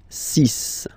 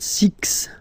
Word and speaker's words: six: Six, six. Okay, so it's not six, it's six, all right?